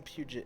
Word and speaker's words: Puget: guy no just kidding like the puget sound in washington as someone from puget it's puget hello oh wait it's